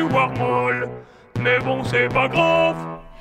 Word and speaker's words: Warmall: Ça aurait plutôt tendance à se prononcer Wargloob et Warmall.